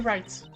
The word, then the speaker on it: Wright: Verity Wright. Il y a un W à Wright, mais on ne le prononce pas.